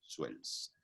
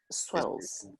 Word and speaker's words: Suels: parientes que llegaron a Venezuela, el nombre se pronunciaba diferente y seguramente lo españolizó y ahora es Suels. Suels.